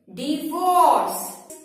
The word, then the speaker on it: divorce: इट इज नॉट डाइवोर्स। Never say डाइवोर्स, it's wrong pronunciation. Its correct pronunciation is divorce.